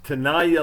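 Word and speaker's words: Tenaya: i looked it up it's tanaya lake i think that's the correct pronunciation i brought my older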